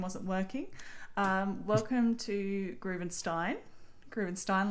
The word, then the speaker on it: Groovenstein: Groovenstein like wine. Now everyone knows how to pronounce it.